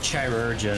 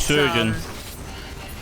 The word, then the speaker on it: chirurgeon: It's a realm of That is pronounced like chirurgeon or something. Chirurgeon. Yeah. Yeah. Yeah. He's a shitty It's, surgeon.